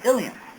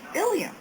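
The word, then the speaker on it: ileum: the slide ilam and ilam they are both pronounced ilam but they both are spelled differently the first one is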